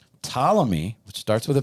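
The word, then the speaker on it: Ptolemy: Talamy, which starts with a P. Yeah, P is silent, was a was a boyhood friend of Alexander's, a Macedonian noble and a phenomenal warrior.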